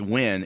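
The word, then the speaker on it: Nguyen: it was spelled ng uy he in yeah pronounced win is actually like John Smith yeah yeah but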